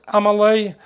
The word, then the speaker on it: Amelie: Amelie, pronounced Amelie, caught her first Lake Burley Griffin mud marlin last week.